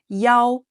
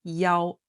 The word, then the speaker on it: 幺: Also, specifically when giving out a phone number, the number 1 is pronounced as 幺 instead of 一 that we learned. That's why in the text you heard the number 1 being read as 幺.